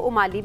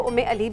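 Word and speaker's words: Umm Ali: है, जो कि है इसको उमाली भी कहते हैं और इसको उम्मे अली भी कहते हैं, और दोनों नाम से आप इसको जो है ना प्रोनाउंस कर सकते हैं।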